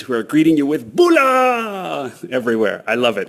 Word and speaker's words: bula: In Fiji, the word they use is "bula" instead of aloha. But, but they don't say it like a Hawaiian would say aloha. It's it's a much more emphatic greeting. It's loud.